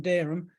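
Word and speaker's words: Dereham: where are you from you say I'm from dirham they might spell it d-e-r -u-m because that's what they hear actually it's spelled d-e-r-e-h-a-m that's how you say yeah but you write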